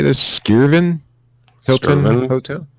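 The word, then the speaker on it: Skirvin: accommodations uh the how do you say this skiren Hilton Hotel sken that's right that's what I meant to say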